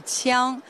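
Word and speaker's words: 枪: In Chinese, it's pronounced the qiang, refers to a flexible spear with the red horsehair attached to the spearhead.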